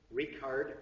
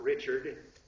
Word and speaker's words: Richard: the Towering figure in German romantic Opera is rard not Richard rard vogner W AGN r vogner i mean rard spelled like Richard but pronounced rard sorry uh he